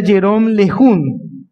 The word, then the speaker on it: Jérôme Lejeune: Y hay un doctor muy famoso, es francés, creo que el nombre se pronuncia Jérôme Lejeune.